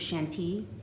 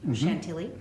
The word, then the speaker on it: Chantilly: mimicking bobbin lace so you've probably heard of shanty chantilly as most of us americans say and uh even though